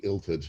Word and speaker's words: Illtyd: Basically, in Welsh, the letter Y and the letter U got inverted pronunciation. If it's a Y, you pronounce it the way that the English would pronounce a U. If it's a U, you pronounce it the way you pronounce a Y. So I'd say it would be Illtyd.